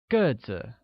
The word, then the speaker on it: 个子: Height becomes 个子, which is pronounced with a falling tone on e, like 个子, while tall translates as 高高, with a high level tone on a.